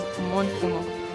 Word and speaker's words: Omonfoma: His name is Omonfoma. Omonfoma. But the end is silent.